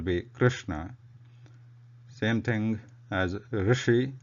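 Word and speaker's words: ऋषि: Same thing as Rishi, not Rishi.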